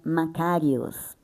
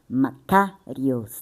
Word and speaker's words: Makarios: Tem uma pronúncia grega chamada Makarios. Já falamos aqui. Makarios, tá? K ele é mais enfatizado.